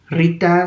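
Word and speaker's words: ṛta: el concepto de rita rita se escribe r suena como r como el nombre rita pero no se escribe con la i latina es una palabra en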